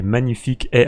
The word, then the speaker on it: Magnific AI: fait beaucoup parler ces magnifiques ai alors oui je le prononce à la française je vous mettrai le